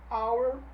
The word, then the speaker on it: hour: E aí eu chamo a atenção aqui para os nossos Hs mudo, quando o H não é pronunciado. Então no inglês existe apenas 4 palavrinhas que iniciam por o H não pronunciado aí, não audível. Heir, herdeiro. Honest, honesto. Hour, hora. E honor, honra.